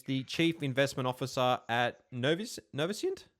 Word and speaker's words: Noviscient: Today I'm joined by Scott Treloar, who's the Chief Investment Officer at Noviscient? How do I pronounce it? Noviscient.